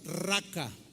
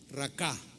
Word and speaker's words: racá: Es una palabra que se escribe y se pronuncia igual, raca o racá, así como suena, racá.